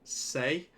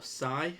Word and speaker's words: SEI: We have the layer one blockchain say or sigh, however you choose to pronounce it.